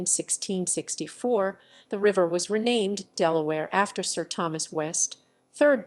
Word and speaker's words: Delaware: name of the barony later in earldom is pronounced as in the current spelling form delaware listened to yell at where and is thought